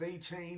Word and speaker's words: Etienne: Saying Travis Achain isn't that hard.